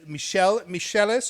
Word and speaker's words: Michel Michelis: We have got Michel Michelis. Am I pronouncing that correctly? Yeah, correct.